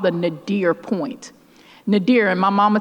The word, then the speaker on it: nadir: about this term in his work called the nadir point. Nadir, and my mama told me, spell it, because some folks may not know what it is.